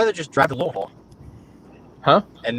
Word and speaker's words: Louisville: You have to eat the syllables. Louisville.